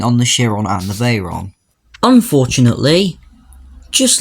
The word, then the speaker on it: Veyron: So they were bought out in 1998 by VW, who set to work making the Veyron. Or at least that's what Top Gear pronounced it as, it's actually the Veyron.